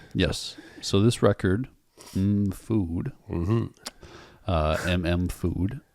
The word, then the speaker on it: MM..FOOD: So this record, Food, MM Food, if you want to pronounce it that way, is it came out the same year as Mad Villainy.